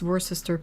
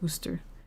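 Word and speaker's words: Worcester: I mean French too but yeah um like from I haven't been to that kind of um why is worister pronounced worooster and the the worooster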